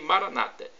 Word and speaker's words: Maranata: português significa vem senhor os evangélicos ou protestantes nossos irmãos separados dizem Maranata com a tônica na penúltima sílaba e nós colocamos a tônica na última não importa a pronúncia somos todos irmãos e